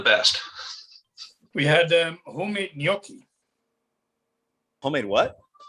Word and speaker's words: gnocchi: gnocchi yeah so there's there's a silent g in there all right okay all